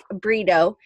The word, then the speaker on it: Brito: many years, but it's kind of like burrito, but it's not spelled like that. B-R-I-T-O, but it does sound like that.